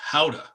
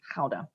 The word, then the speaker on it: Gouda: The correct pronunciation is Gouda. Oh, Dutch is a really terrible language. Gouda. Yeah. Like Vincent van Gogh. Yes. Yep. Yes. So I was like, what? It's not Gouda? No. Gouda.